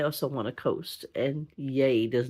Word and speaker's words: Yay: The people in Yay. It's not yeah, because yeah spelled with an H on the end, people. This is Yay with no H.